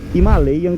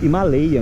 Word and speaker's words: Himalayan: gente que reclama que eu falo himalayan né himalayan em português himalayan é como um americano pronunciaria mas sabe como os indianos da Royal anfield que estão lá no Himalaia né são os caras locais sabe como é que eles pronunciam himel a pronúncia a sílaba tônica é o e não o i em português ou a aqui no inglês americano então se você quiser